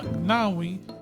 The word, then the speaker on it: gnawing: I could no longer suppress the wretched feeling that has been gnawing.